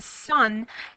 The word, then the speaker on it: cent: 100 and it literally the word Cent In French pronounce a sun is really it represents